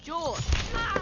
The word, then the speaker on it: Jorge: one up gets it jorge my name's pronounced jaw don't you backtalk me